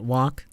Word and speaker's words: walk: Yeah, walk. 걷다 할 때 L 발음 안 하는 거예요.